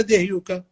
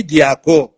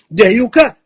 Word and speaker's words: دهيوكا: ايش معنى دهيوكا؟ اللي نسميه دياكو، بالكرديه بنسميه دياكو، هو اسمه دهيوكا. ما راح تفهم العلاقه بين كلمه دهيوكا واللغه الكرديه الا اذا نطقتها دهيوكا.